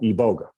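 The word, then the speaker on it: iboga: boitie used in gabon for healing is called eboga and it's spelled i-b-o-g-a um i'm going to check you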